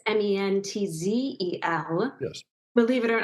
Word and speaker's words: Mentzel: and it's Mentzel.